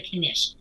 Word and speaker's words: knish: there's something here in New York called the kinesh we're not here but in New York called the knish it's spelled k-n-i-s-h and it is basically spicy mashed